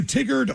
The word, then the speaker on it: Tigard: It's pronounced tie. Tigard.